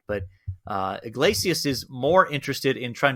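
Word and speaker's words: Yglesias: And it's an article by Matt, is it Iglesias? Is that how you say it? Yeah, Matt Iglesias. I know you struggle pronouncing names, so I'm glad I can step in and help you here.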